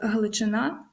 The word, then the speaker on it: Галичина: Суми Сумщина Гуцули Гуцульщина але є винятки наприклад Галичина наголос на останньому складі білоцерківщина і васильківщина угу